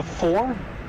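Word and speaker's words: Pfhor: The four?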